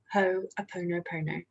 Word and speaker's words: Ho'oponopono: So today's training is a dive into the practice of Ho'oponopono.